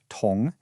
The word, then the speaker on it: 同: The very first one is pronounced tong, and it gives us the sense of together or the same.